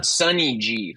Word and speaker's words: Sunny G: Sunny G. Like, Sunny D, but Sunny G.